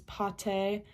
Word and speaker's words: pâté: When you have an accent circonflexe above an A, it makes it into an ah sound. So one example is pâté, which means paste.